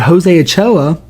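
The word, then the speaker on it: Jose Ochoa: But Jose AchoA, that's how you say his name, by the way.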